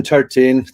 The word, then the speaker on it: Tertin: my name is tartine there's always some question about how to pronounce that weird last name it's best to just go tar and then teen like teenager or however you want